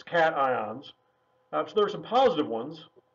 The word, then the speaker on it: cations: ions which are called cations not to be pronounced occasions it looks like it should be said occasions its cations that's there's some positive